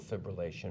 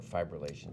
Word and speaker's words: fibrillation: What's the latest treatment for atrial fibrillation or fibrillation, depending upon how you pronounce it?